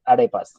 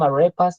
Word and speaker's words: arepa: In his pronunciation, it was arepas. Okay, and I told him, no, it is not arepa. It is arepa. And so he learned to say arepa.